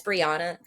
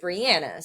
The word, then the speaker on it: Briana: it it is yeah it's Briana but like there are people that pronounce it Brianna so like reading my